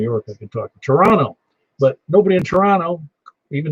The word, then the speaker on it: Toronto: I could talk to Toronto, but nobody in Toronto, even though it's spelled Toronto, says Toronto. It's Toronto. You leave out that middle O.